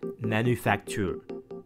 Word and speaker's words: manufacture: frenzy m stands for manufacture yes it's pronounced manufacture because it's french for workshop or factory in